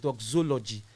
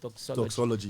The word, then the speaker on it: doxology: i when i told my mentor i actually pronounced it like dog zoology so i told him that this name i